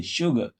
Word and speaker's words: sugar: Yes, because there is no prominence for the syllable and the sound you are pronouncing there is a schwa. It is not prominent at all. It is a very weak sound, weak vowel.